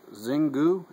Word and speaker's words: Xingu: Pairing today's cigar with, I guess you pronounce this Xingu, X-I-N-G-U.